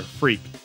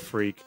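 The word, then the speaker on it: Freq: So the story is centered on our player, Freak. And I'm not making that up. It's spelled F-R-E-Q, but I wouldn't blame you if you thought it was spelled F-R-E-A-K.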